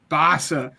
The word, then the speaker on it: Bassa: So, number 7 for me is Jeffrey Basse. Is that how you pronounce that? Jeffrey Bassa, yes. I'm excited. Bassa. That's what it is.